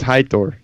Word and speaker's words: Heitor: It's Heitor. There's no C.